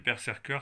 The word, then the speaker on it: BRZRKR: indestructible et quasiment éternel en fait ça s'appelle perer cur c'est le tome 2 ou bien ça se prononce mais dans ce cas-là si vous le